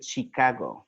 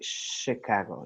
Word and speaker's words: Chicago: what's the other one Chicago right for example the state we don't say Chicago right that sounds very Latin American no say Chicago Chicago okay so those are exceptions